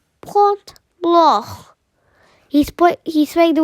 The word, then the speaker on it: Point Blanc: in the french alps is pronounced point glo point blah he split he sprayed